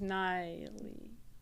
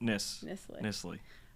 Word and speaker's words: Nisley: I thought it was Niley. Nope, Nisley.